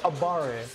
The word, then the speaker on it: abare: We don't call it mashing, we call it abare. I love to call it that. We don't call it mashing, we call it abare. Abare with a little accent. Abare. Now I say it like this, abare.